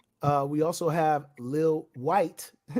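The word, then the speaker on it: Lil Wyte: uh we also have Lil white not spelled traditionally white but w-y-t-e um and then we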